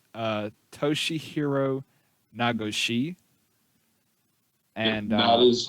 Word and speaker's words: Toshihiro Nagoshi: And his name is, I'm going to try to pronounce this right, Toshihiro Nagoshi.